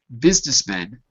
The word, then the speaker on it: businessmen: Notice that in the article it said businessmen, and even though it's spelled with a U, we don't say the U. We say it like an I.